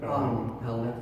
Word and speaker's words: Palahniuk: I'm going to say his name wrong because I've heard it 1,000 ways. Chuck Palahniuk. Palahniuk, thank you.